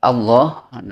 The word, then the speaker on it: Allah: Ya, contohnya seperti wallah, cara pengucapannya wallahu, Allah, Allah, jangan au, tapi al cepat. Tetap ya alnya, lamnya tuh disebut al, jangan au.